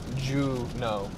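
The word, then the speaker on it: Juneau: Pronounced Juno. Juno. Juno like uh Yes, from Sabrina. Yes, like that.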